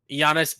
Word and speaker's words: Giannis: said y oh but he did not say yanis that's a great pronunciation of the last name by the way